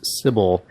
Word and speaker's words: Cibele: And I would have expected it to be pronounced Cibele, but I guess the developer Nina Freeman pronounces it Cibele, so that is what it is.